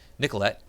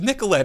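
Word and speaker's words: Nicollet: this major road running through the city called nicolette they pronounce it nicolette because apparently there's this e isn't it it's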